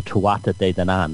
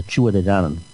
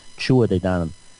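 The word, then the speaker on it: Tuatha Dé Danann: They call it the Tuatha De Danann. It's not pronounced like that at all. It's pronounced the Tuatha De Danann. like chua, like chewing something, de Danann, chua de Danann.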